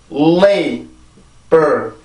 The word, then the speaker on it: labor: 자, 앞뒤로 L, B 발음이 들어가 있죠. 자, B를 먼저 해볼까요? 아까 했었죠? 앞에입니다. lay, lay, labor, labor, labor, labor, labor.